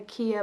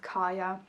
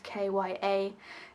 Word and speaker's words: Kya: a girl i think i called her kia but she's probably pronounced kaya i don't know it's kya and she's living in